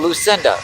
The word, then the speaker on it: Lucinda: My name is uh pronounced Lucine. Duh. Oh. Huh. Lucine. Duh. Okay. hard part on the duh part. Gotcha. Oh, Lucinda.